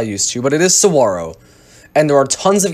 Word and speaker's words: saguaro: advantage number 34 is saguaro national park many pronounces saguaro as i used to but it is saguaro and there are tons of cacti here the